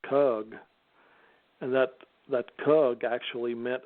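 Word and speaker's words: חוּג: You pronounce kug, and that kug actually meant a sphere.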